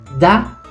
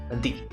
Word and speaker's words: the: Ahora ya saben en qué situación se pronuncia da y en qué situación se pronuncia di.